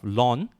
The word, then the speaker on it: ln: to pronounce them okay for me I've been using it for uh saying it in the terms of lawn okay since young okay so for many many many years but there are some group of uh there are other groups of mathematicians that we refuse to actually say like that they say that it cannot pronounce as long it should be L and X okay so it'll be